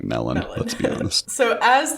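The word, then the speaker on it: mellon: the actors on pronunciation ian mckellen pronounces it medlon but in our head we're all just saying melon let's be honest so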